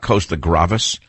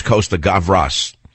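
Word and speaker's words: Costa-Gavras: by Costa graas gavas cost I can never pronounce that filmmaker's name it's not Costa gravas it was Costa gavas if I remember correctly what a great movie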